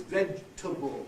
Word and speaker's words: vegetable: When we have the ending able, it never has that vowel. It always has the weaker vowel. So it's not vegetable, it's vegetable. In fact, it's not except 3 syllables. Not even 4, used to be 4 50 years ago or more. Vegetable and so on. Whatever the able ending is, it never has that clear A that it has in